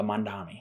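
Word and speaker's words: Mamdani: Uh, Mandami.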